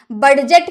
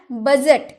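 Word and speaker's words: budget: बजट, बजट तो आपने काफी सुना होगा, तो क्या आपने डी का उच्चारण किया? बडजट किया? बडजट नहीं होगा ना, बजट, बजट यानी कि लेखा जोखा।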